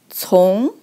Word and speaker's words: 从: So that two persons, it pronounced as 从.